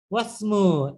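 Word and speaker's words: واسمُ: ওয়াসমু, এই দেখুন হামজাতুল ওয়াসালের জন্য আমি এইখানে হামজার উচ্চারণ হলো না, ওয়াসমু একসাথে উচ্চারণ হয়ে গেল, ওয়াসমুল বিনতি, এবং বিনতি কন্যা বা বালিকা, বালিকাটির নাম কি, আমিনাতু।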